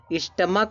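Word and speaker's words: stomach: ठीक है, कह रहा है कि जब CH का उच्चारण का होता है, तब यस जुड़ता है, ईएस नहीं जुड़ता दोस्तों। जैसे स्टमक से देखो लास्ट में स्टमक दिया तो लास्ट में देखो सी से का साउंड आ रहा है।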